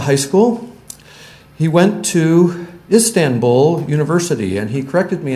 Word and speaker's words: Istanbul: He said there's no N in Istanbul. Well, there's not two N's. And for my entire life, I've been pronouncing it Istanbul.